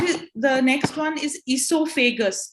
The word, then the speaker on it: esophagus: the next one is esophagus that's how you say it esophagus okay can you all say it to yourselves also e so so o e becomes e i mean or iso